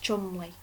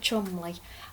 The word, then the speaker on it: Cholmondeley: Biggin for company, now, it's spelt Cholmondeley, but I've heard that it's pronounced Chumley. So Lord Chumley of Brooks's Club bet